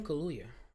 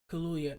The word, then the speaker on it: Kaluuya: Daniel Kaluuya. No, Daniel Kaluuya is someone else.